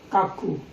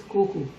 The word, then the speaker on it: cuckoo: Many students pronounce kaku. The pronunciation of this word is not kaku. Its correct pronunciation is kuku.